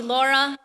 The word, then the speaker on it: Laura: Shore my name is Laura Luna yo series I've been asked to be your MC today my name is Laura Luna if it's hard to roll your r's you can call me Laura I respond to either